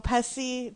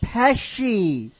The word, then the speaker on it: Pesci: starring Macaulay Culkin, Joe Pesci, Pesci, Joe. Hey, don't you dare! Don't you dare! There's no Joe H. Pesci, not Pesci. Not like you're taking a piss. Joe Pesci.